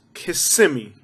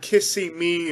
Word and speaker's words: Kissimmee: around in honda civics kissimmee not kissing me or kissimmee say with me kissimmee and if i say